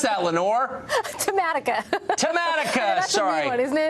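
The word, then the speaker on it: Tematica: You tell me how to pronounce that, Lenore. Tamatica.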